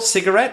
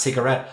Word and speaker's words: cigarette: I mean I guess sometimes I stress the first syllable cigarette and sometimes the last cigarette honestly I do and